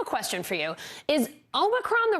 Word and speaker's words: Omicron: They pronounce it Omicron. So Omicron is the way to pronounce it, or Omicron here in the U.S.